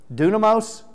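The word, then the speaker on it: dunamis: Say it for me because I want to say dynamite. Dunamos. I didn't want to say it wrong.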